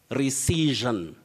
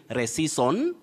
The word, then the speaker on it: rescission: with me that is recision you say recision don't say reseason rescission and all that avoid such pronunciations the accurate pronunciation of